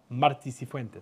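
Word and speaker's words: Martí Cifuentes: So is that pronunciation. Marti Cifuentes.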